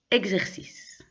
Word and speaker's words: exercice: avec dernière lettre E, le E ne se prononce pas. Donc, pas exercice, mais exercice. On ne prononce pas le E.